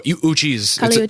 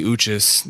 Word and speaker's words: Uchis: your name properly cuz I was saying Cali uchis is that correct uhhuh cuchis oh uchis okay cool I said it wrong